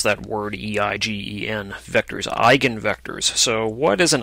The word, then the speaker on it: eigenvectors: on eigenvectors of a matrix that's how you pronounce that word e-i-g-e-n vectors eigenvectors so what is an eigenvector for a